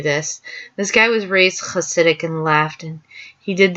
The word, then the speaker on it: Hasidic: it when I googled Hasidic Jews. If you can't do you could just say Hasidic, but the CH in Hanukkah and Hasidic, it's literally like a C sound and then an H sound.